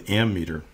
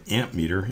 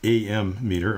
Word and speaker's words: ammeter: It's called an ammeter. Now, this is very commonly mispronounced as an ammeter. It's not. It's ammeter or ammeter.